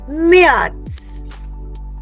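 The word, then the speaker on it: März: that's nice here okay so March will be pronounced S मियाट्स मियाट्स everybody repeat this मियाट्स so what do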